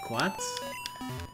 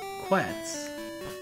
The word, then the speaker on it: Quetzalcoatl: Quats? No, it's not Quats, it's Quetz.